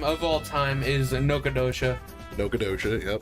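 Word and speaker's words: Nacogdoches: My favorite city name of all time is Nocodosha. Nocodosha. Yep, it's not spelled any way how you think it's pronounced. Yep, it's not, and it is said Nocodosha.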